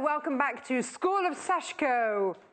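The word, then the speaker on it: sashiko: what is this sashco it's pronounced sashko we went and found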